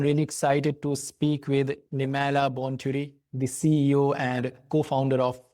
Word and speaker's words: Nemailla Bonturi: Today, I'm really excited to speak with Nimala Bonturi, the CEO and co-founder of IO. Am I pronouncing it right?